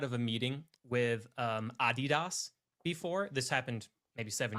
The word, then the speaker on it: Adidas: because I called we we all collectively called them Adidas and they were like you do not know the name of our company it is pronounced Adidas we do not do